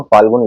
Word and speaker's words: फाल्गुन: समय के ऋषि थे फागुन कई बार हम बोलते हैं लेकिन लिखते हम नहीं फागुन हम फाल्गुन लिखते हैं यही इसका सही उच्चारण है दोस्तों वैज्ञानिक दृष्टि से